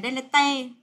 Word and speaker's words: delete: Nhưng mà rất nhiều bạn hay đọc từ này là delete. Đấy, nhớ phải đọc là delete nhé, delete.